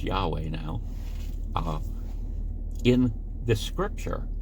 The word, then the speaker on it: Yahweh: uh the name of God which we would pronounce Yahweh now uh in this scripture and it's a